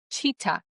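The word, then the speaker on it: Chitat: He said, "That guy that ran away, that was Charles Cheetah Ng." And he said cheetah, pronounced cheetah, just in case there was any confusion.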